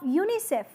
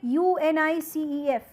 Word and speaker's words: UNICEF: United Nations Children's found you don't say u n i c e f rather you say UNICEF so you are pronouncing as if they as if it is a complete word as it is has